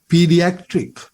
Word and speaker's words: pediatric: can use this adjective pediatric. Again, the pronunciation pediatric. The a part එක ඇදෙන්න ඕනේ හයියෙන්. We say pediatric.